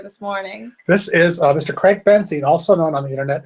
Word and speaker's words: Craig Benzine: and also I'm not I'm not greg benson i'm craig benzine we look at that clear make that confusion yeah there's they're spelled completely differently and pronounced differently and you look different